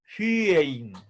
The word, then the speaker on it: phyein: La Y se pronuncia con poniendo los labios en forma de U, pero pronunciando desde adentro el sonido de la I.